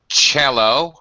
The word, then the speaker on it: cello: actually has two pronunciations cello has a CH pronunciation on the c and double base okay